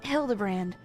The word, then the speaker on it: Hildibrand: It's pronounced Hildbrand.